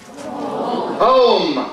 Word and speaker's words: home: The same happens with home, not whom. We say home.